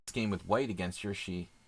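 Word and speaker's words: Jiri: I think I might have had this game with white against Yuri. How do you say the Czech name? J-I-R-I. Yuri.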